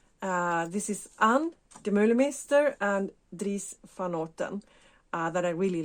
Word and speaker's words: Dries van Noten: Dries, let's say it correctly, Dries van Noten.